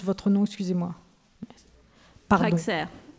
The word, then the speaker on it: Rexer: Rexer, je ne sais pas comment on prononce votre nom, excusez-moi. Pardon. Rexer. Rexer, ok.